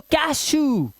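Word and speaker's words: cashew: जब किसी शब्द में CH, SH, L, R के बाद EW दिया हो तब EW का जो उच्चारण है वो ऊ हो जाएगा। प्यारे बच्चों क्या हो जाएगा? ऊ। अब देखो SH के बाद EW तो कैशू, कैशू, ऊ, ठीक है।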